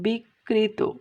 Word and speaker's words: বিকৃত: একইভাবে দেখো বিকৃত, এখানে কয়ে রফলা রস্বীকার আছে, তাহলে এই যে মধ্যে রফলা এখানে ডাবল উচ্চারণ হলো বিকৃত।